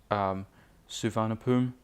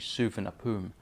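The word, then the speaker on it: Suvarnabhumi: routes are from Tokyo Haneda Airport to Bangkok Suhana poom Beijing capital by the way I've been pronouncing Bangkok's airport names name wrong I was informed and so whenever fellows it's actually super nappeun Airport so hopefully I remember that for the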